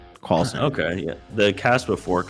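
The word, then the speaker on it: Karlsen: car Carlson Carlson yeah k r LS n Carlson okay yeah the Casper Fork you know with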